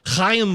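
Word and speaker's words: Chaim: they wanted i think cayenne bloom our jewish brother right here i am bloom i'm jewish that's how you say it right there the hayam just like i am that's what it is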